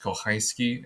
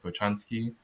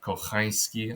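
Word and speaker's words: Kochański: Uh, the name is pronounced Kohhiski instead of Kochansky. So, Kohyski, I believe.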